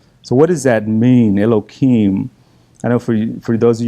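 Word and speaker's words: אלהים: I'm going to say Elohim, but it's the proper pronunciation. You put an H in there or a hey, and it's instead of the K. So Elohim, he heard that everything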